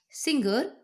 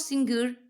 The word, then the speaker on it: singer: They say linger, soft G, instead of linger, hard G. And then they turn around the say singer, hard G, instead of singer, soft G.